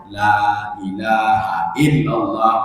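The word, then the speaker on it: لا إله إلا الله: Tapi kita bacanya la ilaha illallah, atau kita cepatkan la ilaha illallah, la ilaha illallah. La-nya panjang. Itu maknanya la nafi lil jinsi, menafikan semua jins selain Allah Subhanahu wa taala.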